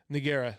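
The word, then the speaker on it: Ngannou: Nagara.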